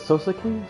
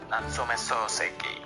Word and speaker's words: Natsume Soseki: Is it Sosuke?